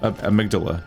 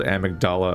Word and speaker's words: amygdala: inch is like what amygdala there we go which i called amigdala at one point we need to play